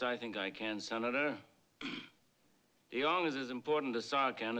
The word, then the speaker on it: Deong: The name is Deong, sir. It's pronounced with a D. Deong.